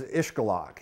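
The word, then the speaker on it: Xcalak: back ever since uh the name of the town is ishgalok and uh x-c-a-l-a-k that trips a lot of people up it's uh probably because not many of us speak mayan and it is a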